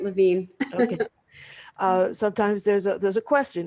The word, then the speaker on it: Levine: And Terri, I forgot to ask you, do you pronounce your name Levine or Levine? You said it right, Levine.